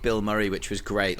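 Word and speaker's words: Bilmuri: um check them out not the actor Bill Murray but um you spell it b i l m u r i just really fun like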